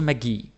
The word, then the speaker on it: magi: You put the stress on the I. Also magi, magic.